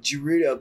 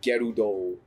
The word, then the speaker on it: Gerudo: Okay, apparently it's supposed to be said Gerudo. Not Gerudo. That's how they say it in... Like Naruto. Tears of the Kingdom, they say Gerudo.